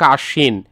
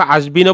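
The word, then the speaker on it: আশ্বিন: যেমন এখানে দেখ আশীন। এইযে আশীনের মধ্যে এখানে ব কিন্তু দুইবার উচ্চারণ হয় নাই। অর্থাৎ মানে বফলাটা উচ্চারণ হবে না। হবে হচ্ছে যে বর্ণটার সাথে বফলাটা আছে সেই বর্ণটা হচ্ছে দুইবার উচ্চারণ হবে। যেন আশীনকে আমরা দেখো আসবিনও বলি নাই। আবার হচ্ছে এখানে আব্বিনও বলি নাই।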